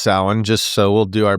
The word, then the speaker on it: Samhain: So when you read this, it looks like Samhain, but it's not. But it's pronounced Samhain.